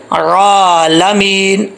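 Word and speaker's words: العالمين: رب العالمین ایسا نہیں، ایسا نہ ہو کہ آئین کے اوپر جو یہاں پر جو ہے وہ آئین ہے، اس کو حمزہ نہیں پڑھنا، پتہ نہیں چلا کہ آئین پڑھی جا رہی ہے، حمزہ پڑھا جا رہا ہے، کلیئر کر کے پڑھنا ہے۔ آئین کھڑا زبر، آئین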